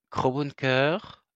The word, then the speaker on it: CrowdBunker: Moi, je voulais absolument prononcer le D, mais apparemment le D ne se prononce pas. Crow Bunker, Odyssée, et puis depuis